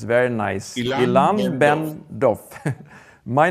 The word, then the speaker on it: Ilan Ben-Dov: Exactly as it is written. It's very nice. Ilan Ben Dov.